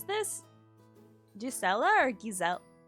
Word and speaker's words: Gisela: So, with the Germanic pronunciation, it's Gisela. Because the other pronunciation is Spanish.